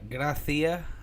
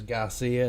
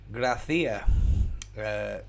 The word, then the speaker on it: Gracia: pronouncing his name right A lot of people are not even spelling it right let alone pronouncing it right I I will be the first to admit that I butchered his name I thought it was Garcia and I didn't really spot